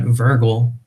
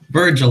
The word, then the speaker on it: Virgil: actually interesting so it so the Roman poet Virgil Virgil that's it thank you I don't pronounce names the correct Weiland sorry so the